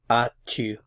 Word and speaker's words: as-tu: So the question, do you have, is as-tu. As-tu. Again, the S is not pronounced.